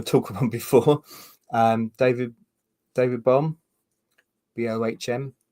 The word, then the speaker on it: Bohm: about before, David Bohm, Bohm. Never quite sure how to pronounce his name. I think it's just Bomb, but it just sounds unfortunate, really.